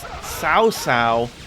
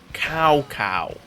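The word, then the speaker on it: Cao Cao: even be bothered to pronounce people's names right it's SAA not cow cow I should mention that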